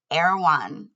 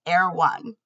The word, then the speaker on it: Erewhon: And the name is Erewhon. And now I'm saying it differently because I know how it's spelled. But what I heard every time was Erewhon.